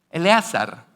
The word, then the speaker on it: Eleazar: Cómo se llamaba el mayordomo principal de Abraham Eleazar Eleazar Okay Eleazar se escribe con una ain a ver esto debiera